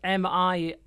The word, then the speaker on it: Minit: Yeah, it's spelled M-I-N-I-T, M-I-N-I-T.